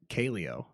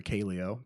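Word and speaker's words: Kaleo: I was listening to this band called uh Caleo and it's spelled k a l EO and I was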